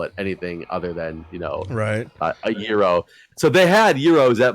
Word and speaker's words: gyro: How do you pronounce the delicious Greek sandwich? Oh, it's some people call it gyro, but it's gyro. So I completely agree with you. It is gyro, and I always like get into arguments with